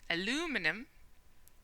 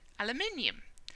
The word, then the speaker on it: aluminium: Americans do for example an American might say aluminum and I would say aluminium it's the same word but the natural stress is different which causes me to